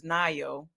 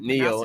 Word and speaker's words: NIO: I've been Neo, pronouncing it yeah. Neo, but somebody said it was Nio, so I guess it is. But you know what? I didn't double check that myself, but it's Nio.